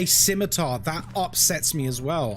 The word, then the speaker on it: scimitar: uh say aluminium which uh is the accepted pronunciation internationally I believe aluminum sword oh my god stop it skimar oh people who can't say scimitar.